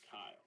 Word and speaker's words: Kyle: I'm only one so the correct pronunciation of my name is Kyle but people get wrong